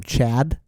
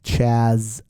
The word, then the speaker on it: Chaz: The actor's name is Chaz Palminteri. That was the actor that played the gangster. Chad. I think I was calling him Chad. It's not Chad. It's Chaz Palminteri.